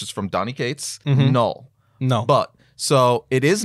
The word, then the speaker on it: Knull: It is null. Right. We know that for a fact. But a lot of people up front were arguing that it's Knull. Like that was an actual argument.